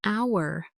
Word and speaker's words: hour: So, an apple, an egg, an idea, an orange, an hour. Did you hear that? An hour. Y. Because the word hour starts with a silent h. So, the first sound is a vowel sound.